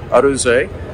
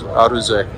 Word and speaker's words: Aruze: Aruze. I heard some people mispronounce it, Aruz. No, it's Aruze.